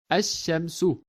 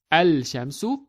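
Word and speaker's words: الشمس: Because this ism starts with the letter shin, we actually do not pronounce the letter lam of the prefix al. The lam assimilates into the next letter, which is shin. So we read it as ash-shamsu, not al-shamsu, but we read it as ash-shamsu.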